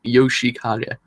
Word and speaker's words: Yoshikage: I can never pronounce his name sometimes, but it's Yoshikage.